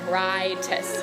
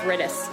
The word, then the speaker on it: Rytis: And she was saying, I think it's definitely rye, like rye bread, Rytis. And I was like, it's Rytis, for sure.